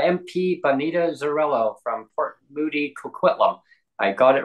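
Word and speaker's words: Coquitlam: special guest Bonita MP Bonita from Port Moody kitum I got it right this time Bonita I pronounced it as you say Port Moody Port Moody and kitum and but I got it right so thank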